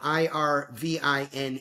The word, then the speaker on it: Irvine: a guide to the good life by William Irvine or Irvin. I R V I ne he pronounces it Irvin.